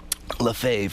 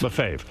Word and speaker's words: Lafave: your name when she got in the newspaper Lafave Le fave Debbie Lafave was a teacher yeah I dated it for